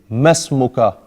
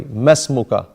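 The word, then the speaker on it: ما اسمك: to say it, the correct way to say it, masmuka. The alif disappears because this is a weak alif. Anyway, masmuka, say.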